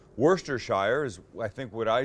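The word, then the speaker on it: Worcestershire: lineup a hundred people you get a hundred different pronunciations of this worstest we're sester Shire is what it looks like it's not would they say Wurster Shire is I think would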